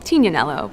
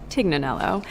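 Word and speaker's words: Tignanello: The name the TIG comes from a wine called Tinanelo, but often times it's mispronounced Tiganelloo.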